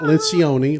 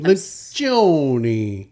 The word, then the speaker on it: Lencioni: Not Lencioni, Lencioni.